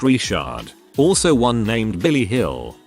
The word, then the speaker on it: Richard: Granted, this is Louisiana, so the last name is pronounced Richard.